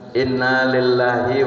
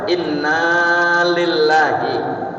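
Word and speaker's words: إنا لله: dalamnya domir nahnu ya jadi Bacanya apa Inna lillahi wa inna ilaihi jadi naknya panjang inillah wa inna ilaihi jangan Innalillahi berita dukaacita telah meninggal dunia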